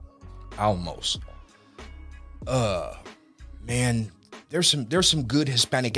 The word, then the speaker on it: Olmos: Olmos.